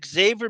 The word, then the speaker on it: Xavier: Arm coming from now I said Xavier because Xavier McDaniel pronounces the X and um Professor Xavier from the X-Men it's always I'm hitting the X I'm not saying Xavier that